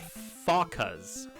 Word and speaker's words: Fokka: These, best I recall, are called Fokkas. F-O-K-K-A. I'm pretty sure that's how we spell it and how you pronounce it.